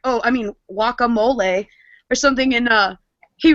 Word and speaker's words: guacamole: this isn't funny it's it's pronounced wacamole he's like wouldn't pronounce the G and then insulted Jimmy